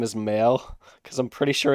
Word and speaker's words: Mael: It's Male. we're Fucking heading dumbass. It's back. not pronounced Mile. It's Male.